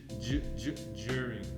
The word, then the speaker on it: during: So now, just for pronunciation, during it sounds like a soft J. Okay. Juring.